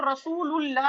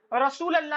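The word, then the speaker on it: رسول الله: रखा में जाएगा लेकिन नॉर्मली जगह प्रोनाउंस करेंगे तो रसूलुल्लाह ही कहेंगे रसूल अल्लाह ही नहीं करेंगे और एक चीज मैं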